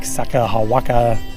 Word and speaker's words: Sakakawea: Which is on Lake Sakakawea. It's not Sacagawea? Lake Cinco de Mayo. Sakanabox. No, Lake Sacagawea. Although it's not spelled like that, I'm not sure why you pronounce it that way.